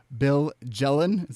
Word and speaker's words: Bill Jelen: Excel, Bill Jelen.